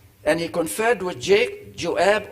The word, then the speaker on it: Joab: he confed with jake joab or uab the j is pronounced y in hebrew yuab the son of zuria